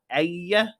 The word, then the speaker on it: Aya: GM, Missile Dine, and Aya is how you say it.